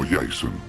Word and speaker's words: Jasón: El segundo se identificó como Jasón, pronunciado Jason.